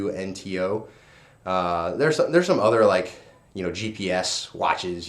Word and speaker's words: Suunto: I think that's how you pronounce it, Suunto. It's Suunto.